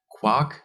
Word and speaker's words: Quark: After almost all words that start with a Q comes an U and are pronounced as follows. Quark, Quadrat, Quiz.